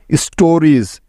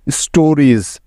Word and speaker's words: stories: আবার দেখো, শব্দের শেষে ইএস থাকলে তার উচ্চারণটাও কিন্তু জ এর মতো হয়। যেমন দেখো, গোজ, জিউইএস, dose, ডিউইএস dose, স্টোরিজ, STORIES স্টোরিজ, babies, BABIES babies.